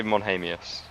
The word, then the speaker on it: Monius: Uh I say Monius. Monius.